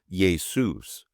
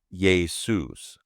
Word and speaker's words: Ἰησοῦς: Jesus, and it's pronounced yay-SOOS, with the emphasis typically on the second syllable, soos. Now, maybe the Greeks were having budget cuts and couldn't afford any J's, but there it is, yay-SOOS.